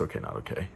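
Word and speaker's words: OKNOTOK: o KN o this is how I always pronounce it my head but it's okay not okay and it's the bsides of Okay computer and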